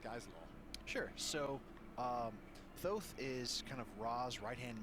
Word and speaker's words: Thoth: straight into the discussion it should be pronounced thoth or potentially tote but really yeah so